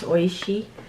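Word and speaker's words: Oishi: Maybe this I can eat this baked nut fried potato fries from Oishy as well growing up we we pronounce this but actually in Japanese it's oisy.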